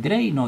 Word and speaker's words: Drano: n su mismo nombre drano y en inglés la pronunciación es draino y eso a nosotros